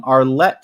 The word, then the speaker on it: Arlette: And then, I keep pronouncing that wrong. Arlette style home cooking. I think I kept on saying Arlene.